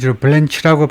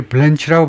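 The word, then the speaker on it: Blanche: 터블 터블런치라는 사람이 그러니까 CH를요. 이게 두 발음이 두 가지가 있어요. 그래 가지고 셰프처럼 쉬라고 발음하는 것은 주로 프랑스에서 온 겁니다. 프랑스에서 오지 않은 시의 뒤쪽은에 칠소리를 내요. 그래서 타블랑시 타드 블랑시냐 블란치냐 하면 지금 미국애들이 블렌치라고 발음하는 거 같아요. 그래서이 사람 조상이 프랑스인지 아닌지 몰라도 대부분의 미국애들이 블렌치라고 발음을 하네 터블 the acting을 지금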